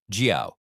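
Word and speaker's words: 叫: Next, at number 45, is jiao, pronounced jiao. It rhymes with how or cow.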